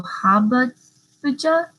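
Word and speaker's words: jojoba: I did look up the pronunciation and it said the J's were supposed to be H's, so habaja.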